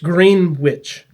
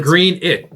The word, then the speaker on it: Greenwich: It's spelled green. Green witch. No, green it.